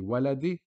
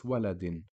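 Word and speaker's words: وَلَدٍ: was just a standard Kasra it would be waladi but because of tanwin Kasra double Kasra it's waladin and same for najmin which means star the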